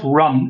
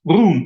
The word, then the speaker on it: Rún: write the word run, it's not run, it's Rún, right? Rún, correct. Which is, for a German